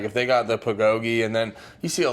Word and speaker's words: bulgogi: And then my buddy got the, how do you pronounce it? Bulgogi? Bulgogi, that's right.